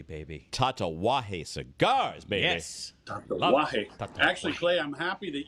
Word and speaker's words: Tatuaje: Tatuaje. Actually, Clay, I'm happy that you say it properly, because if you ever hear Charlie Minato say tatuaje, it's so awkward.